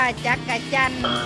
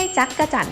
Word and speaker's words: จักจั่น: ไมตรี นะ คะ และ เวลา ออก เสียง ต้อง ออก เสียง ว่า จาก กระจั่น ไม่ ใช่ จั๊กจั่น นะ คะ แต่ ไม่ ดี ๆ นะ คะ จักจั่น จึง จะ ถูก ต้อง ค่ะ ขอบคุณ ทาง ราย